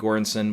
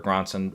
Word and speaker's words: Göransson: Then we had original score go to Oppenheimer, Ludwig Göransson, which was a very, or Göransson, I've heard it pronounced both ways.